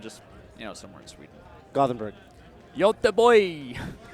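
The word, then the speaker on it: Göteborg: Yote boy. Is that? They taught me how to pronounce it when I was in Sweden.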